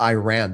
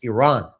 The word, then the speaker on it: Iran: It's not pronounced Iran, by the way. I keep listening to people say Iran, Iran. It's Iran.